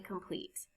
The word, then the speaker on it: complete: There are two syllables in complete. In the second syllable, the vowel E is followed by consonant T and E. The final E is silent and the E before it has a long sound, like E.